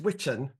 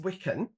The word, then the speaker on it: Wiccan: And Wiccan was pronounced witchen, and it was just the plural. Now today, Wiccan is pronounced Wiccan, and it's used to describe somebody following the religion of modern pagan witchcraft.